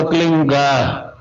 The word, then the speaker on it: क्लीं: की मात्रा और बिंदी, उसका उच्चारण होगा क्लींग। गा की ध्वनि निकलेगी पीछे।